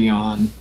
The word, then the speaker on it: Yeon: with word that I won't run off Mr yon Yon apparently this is pronounced the Box up into the counter pushing